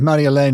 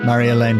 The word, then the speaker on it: Marjolein: and I still have new stories every and Mar elain is spelled m a r j o l e